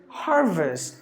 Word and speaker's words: harvest: There are only 2 syllables in this word. Ha. Up until this, 1 syllable, and here another syllable. A syllable. 1, 2. Okay, yeah. Oh, 4 syllables. 4 syllables. So here you got only 2 syllables. If you go to the American way, the letter R is pronounced.